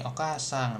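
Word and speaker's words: お母さん: Okasang. Nah, ini sama lah ya. Jadi a-nya lebih panjang seperti itu pronunciation-nya hatsong-nya. Kemudian kalau di biasanya ini ee apa?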